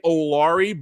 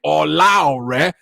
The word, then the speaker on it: Olaure: Normally I say Olari, but I am out here trying to use my real pronunciation of my Nigerian name, Olaure.